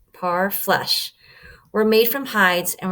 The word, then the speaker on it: parfleche: Parfleche, pronounced parfleche, were made from hides and were often beautifully decorated.